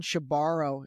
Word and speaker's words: Shebaro: came on was because I was making sure I was pronouncing his last name correctly. And he said, yeah, she borrows the money and she never gives it back.